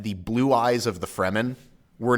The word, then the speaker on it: Fremen: You pronounce it Freeman? Fremen. Okay.